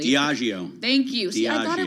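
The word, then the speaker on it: Diageo: little bit after UK distiller diio hope I'm pronouncing that correctly diio thank you I thought it would be that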